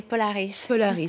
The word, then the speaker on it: Polaris: pronounce it Polaris or polariz uh I say a French way Polaris so we'll stick to